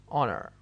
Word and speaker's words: honor: now we move to the fourth one where the h is silent and the word below honest honor hour honest honor hour all